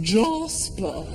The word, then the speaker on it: Jasper: with a black Labrador called Jasper pronounced jospeh class they come here